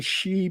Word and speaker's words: Xi: in Mexico were the shei people shei that's XI but the x in Spanish is pronounced like a sh sh so it's she